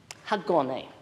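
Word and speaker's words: Hágoónee': I'll give it to you one syllable at a time. Okay, ha, go, ne, ha, go, ne.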